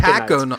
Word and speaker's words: taconite: My word this week is taconite. Oh. Taconite. Anybody want to guess the spelling on this? Tacinite? No. It is spelled Taconite. Taco night. Oh, taco night.